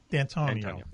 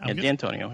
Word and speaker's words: D'Antonio: D'Antonio. Okay. D'Antonio. Yeah, like D with an A, D-A-N-T-O-N-I-O. So Antonio with a D in front of it.